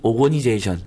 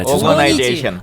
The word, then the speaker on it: organization: 지오, 정부기구, 가버먼트 오거니제이션. 발음은 안 좋습니다. 오거나이제이션. 오거니제이션은 아니야. 다시 해라.